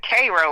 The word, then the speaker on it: Cairo: It's actually they pronounce it Cairo like Cairo. okay, there you go. Yeah, uh so yeah. Um Yeah, I'm from Cairo.